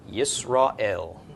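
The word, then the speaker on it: ישראל: So yis, ra, aleph is silent, go right into the vowel, el, Yisrael.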